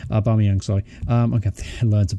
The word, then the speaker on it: Aubameyang: Aubameyang, sorry. Okay, I learned to pronounce the name correctly.